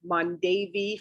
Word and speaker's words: Mondavi: already this is where the mondavi or mondevie family as it used to be pronounced when they lived in